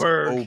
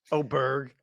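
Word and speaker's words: Åberg: up there ludig oberg folks it is oberg we're now on the fourth pronunciation oh Berg uh of the first year PGA Tour player like the leaderboard was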